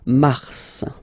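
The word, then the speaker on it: mars: way it's an exception because normally final s is not pronounced in French okay we've got some exception and this one is one of them so Mar pronounce the final s mar mar okay then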